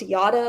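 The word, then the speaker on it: Jara: my name is y it is spelled j a r a but it's pronounced yada like yada yada yada I know it's confusing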